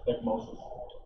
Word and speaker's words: ecchymosis: Ecchymosis.